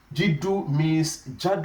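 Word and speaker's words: جَدُّ: Jaddu is different from Jiddu. Jiddu means seriousness. So Jiddu means seriousness, while Jaddu means grandfather.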